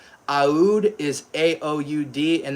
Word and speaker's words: Oud: and it's called Taif Aud because Taif is the name of the rose. T A I F. Aud is a O U D and that's how the Middle East pronounce oud.